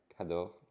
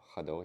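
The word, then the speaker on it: Khador: Okay, he's standing on a scenic Cador, or Hador if you pronounce it right, vestige, like a wreckage.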